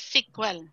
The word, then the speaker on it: SQL: so sequel plus is sql is pronounced as sequel Okay so sequel plus